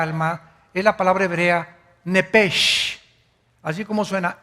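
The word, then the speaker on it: נפש: es la palabra hebrea nepes así como suena n e p e s h nepes la palabra la letra o las letras sh en el hebreo se pronuncian en hebreo como J Entonces se pronuncia y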